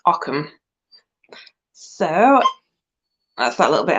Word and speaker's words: Ogham: it Occam it's pretty it's spelled o g h a m so you'd think ogam but no it's Occam so that's that little